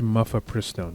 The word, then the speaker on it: mifepristone: It looks like it's mifepristone or mifepristone. I think it's mifepristone. That's probably how you pronounce it.